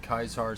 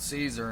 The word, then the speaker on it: Caesar: kaisar legion but everyone it's spelled Caesar and people call him Caesar but then there's other people that call him kaisar and it's like I think kaisar sounds cooler to be honest with you you know that's why